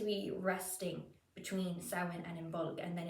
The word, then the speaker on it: Imbolg: in Modern Irish, but as far as I know, most C's in Old Irish would actually be pronounced as a G, not a C.